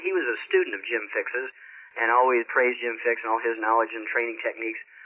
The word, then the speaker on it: Jim Fixx: jogging came up, and was it Bill Kick? Jim Fixx. Fixx, okay. You're close. Jim Fixx, spelled with two X's, F-I-X-X.